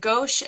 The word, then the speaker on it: gouache: Mosaics, but it looks like you also do is it gouache and things like Gouache.